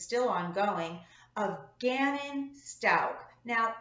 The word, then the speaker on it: Stauch: still ongoing of Gannon Stoke now I have seen it pronounced stauch and stuck it's sto uch but I believe the proper pronunciation is Stoke anyway I'm actually surprised